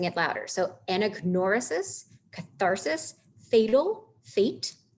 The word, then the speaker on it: anagnorisis: the syllable is bolded, that you should be pronouncing it louder. So anagnorisis, catharsis, fatal, fate, hamartia or hamartia, hubris, peripetia or peripeteia, and pathos or pathos.